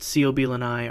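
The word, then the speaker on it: Coblynau: The Coblinau singular coblin, pronounced Ceobilanai, are mine goblins from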